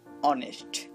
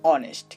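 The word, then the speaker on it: honest: তেমনি করে দেখুন অনেস্ট, এখানে এইচ বসেছে ঠিকই, বাট কোনো কাজ করছে না, কাজ করছে পরের বর্ণটা, তাই আমরা এটাও চোখ বন্ধ করে বলতে পারি এর পূর্বে অ্যান ব্যবহার হবে।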